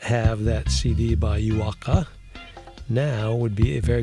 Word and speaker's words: Juaaka: Juaaka is spelled Juaaka. So that's Juaaka, not Juaaka, which would be 2 Ks, but Juaaka.